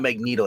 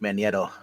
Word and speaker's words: Magneto: It's not Magneto. It's pronounced Magneto.